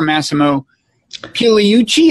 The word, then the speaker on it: Massimo Pigliucci: You are Massimo Pigliucci. Is that an acceptable pronunciation?